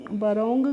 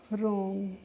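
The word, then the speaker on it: wrong: Simple सा rule है, जब भी किसी भी शब्द में डब्लू के बाद आर आता है तो वहाँ पे क्या होता है डब्लू हमारा क्या रहता है साइलेंट रहता है, यानी कि डब्लू का हमें प्रोनाउंसिएशन नहीं करना होता है। इसीलिए इसको हम वरोंग करके नहीं पढ़ते हैं, क्या पढ़ते हैं रोंग करके पढ़ते हैं, क्योंकि यहाँ पे जो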